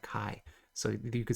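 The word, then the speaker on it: 卡: You pronounce that kai.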